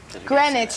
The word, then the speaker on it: Greenwich: Greenwich. You said Greenwich. Greenwich. Bob. That's all right. Sorry. The W is silent.